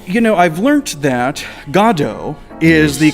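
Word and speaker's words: Godot: know i've learned that godo is the correct pronunciation it is beckett's preferred pronunciation in english you know there's lots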